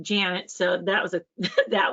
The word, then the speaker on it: Janet: Well, the cool thing is planet rhymes with Janet, so that was a that was awesome.